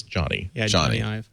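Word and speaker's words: Jony: to just reflexively say Jonie I've been told it's Johnny joh Johnny it's just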